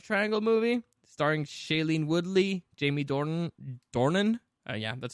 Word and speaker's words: Jamie Dornan: This is kind of like a love triangle movie starring Shailene Woodley, Jamie Dornan.